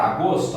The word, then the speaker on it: agosto: Vamos para agosto, ó. Agosto. Agosto. Tá vendo? Eu chamei mais forte qual sílaba? O gos.